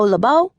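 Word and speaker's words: LoBeau: My name is Labau with the accent on the end.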